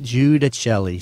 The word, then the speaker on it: Giudicelli: Okay, so when you say it, you got to be singing. Yeah, you always tell me to Giudicelli. Giudicelli.